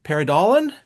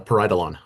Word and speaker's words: Pareidolon: I've got Lachlan Talker here and he's from Paridalan. Did I pronounce that right? Uh, almost. It's close. It's a parietalon.